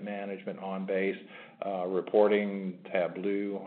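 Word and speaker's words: Tableau: on base uh reporting tblo I believe is how you say that so anyways um you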